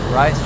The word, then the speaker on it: Reiss: Rice, rice, rice, rice, rice.